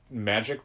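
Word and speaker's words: Magik: It's very much a mutant magic book. Not the mutant magic, but magic and mutants. That's always difficult to explain because of a character called Magic. Yes. With a silent K.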